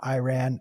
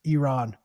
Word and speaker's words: Iran: when they come on not Iran not Iranian Iran well dude I am for Baltimore I have the worst accent freaking no you're fine every American says wrong I'm on a mission to correct every American when they come on this show it's Iran anyways thank you I